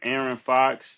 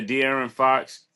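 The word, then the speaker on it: De'Aaron Fox: It's contagious to It looked like um um Aaron Fox. Dear, how do you say his name? Yeah, De'aran Fox.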